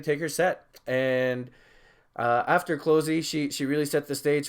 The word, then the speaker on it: Clozee: So after Atrophia, Closey came on, and I will admit that I wasn't too familiar with Closey's music.